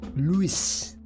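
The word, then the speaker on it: Lewes: movement camera also move it's pronounce Louise it's a place in Essex Louise okay then I and well I was I was reading it and I'm like uh I know what a Lou is Louis okay okay louw LS Lewis like the name Lewis okay thank you Jane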